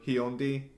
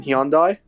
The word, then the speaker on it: Hyundai: honda maybe even korean hyundai kai or hyundi i don't know how to pronounce that car you mean hyundai probably so yeah those